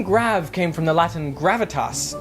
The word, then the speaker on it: grave: Or rather, grave, as it would have been pronounced in the original French.